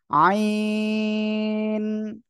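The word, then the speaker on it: عين: উচ্চারণ পাবেন এ অক্ষরে আমরা যখন উচ্চারণ করব তখন গলাটা চেপে আমরা উচ্চারণ করব আইন এভাবে উচ্চারণ করতে হবে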